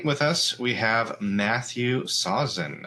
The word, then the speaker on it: Sawczyn: And today with us, we have Matthew Sausen. Am I pronouncing your last name right, Matthew? That was perfect. Well done.